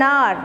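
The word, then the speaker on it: hour: so and are because h is silent we don't pronounce the sound of h so that's what is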